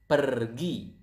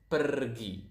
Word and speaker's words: pergi: Go is pergi. So as you can see here, we pronounce the R quite clearly. So it is kind of like Spanish.